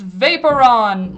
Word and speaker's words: Vaporeon: It's Vaporon! Like, I'm trying to think, you know, in the show, when they would go, who's that Pokemon? It's Vaporon.